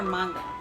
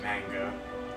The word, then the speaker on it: manga: pretty sure that like my pronunciation of manga it's either it's either manga or manga it's probably it's most definitely manga but i keep pronouncing it mango because i'm an i used to say mango then there's